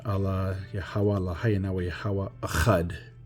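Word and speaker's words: אחד: But this is, for example, Achad, right, in the Paleo, and then this is in the Syrian, and then that's how it's pronounced, Achad.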